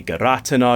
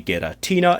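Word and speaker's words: Giratina: I say gir-AH-tin-ah, you say gih-ra-TEEN-ah, it’s fine, we’re all adults here, arguing about the names of cartoon animals for children.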